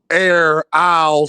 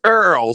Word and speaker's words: Errol: Hey, he said air is Smith. I don't know how you say it, gang. I cannot. Y'all from the country, boy. It's Earl, son. It's Earl. Like Earl. Just just Earl.